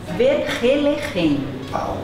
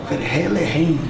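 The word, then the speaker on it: Vergelegen: Eu sei que o nome é bem difícil de pronunciar, o nome dessa vinícola. Você sabe? É uma palavra em africano, Verhelerhen. Verhelerhen.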